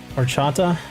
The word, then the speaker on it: horchata: as I was saying it's more traditionally known as horchata spelled with an H but it's silent so if you ever